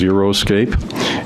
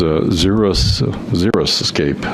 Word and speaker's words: xeriscape: I thought it was Xeriscape. It's Xeriscape, I guess it is. So I was corrected on that.